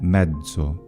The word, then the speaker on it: mezzo: The letter Z, though, can have another pronunciation, which is voiced, a voiced affricate. So, from Latin medium, we get mezzo.